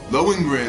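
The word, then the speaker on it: Lohengrin: in Len Gren Castle oh loin loen grin that's how you pronounce it who this you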